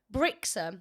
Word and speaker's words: Brixham: Brixham.